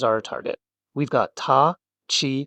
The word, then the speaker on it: た: We've got ta, chi, t to t, and toe.